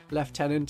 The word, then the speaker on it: lieutenant: of the loo so it's always better to pronounce it properly as Lieutenant as good British people do and since Games Workshop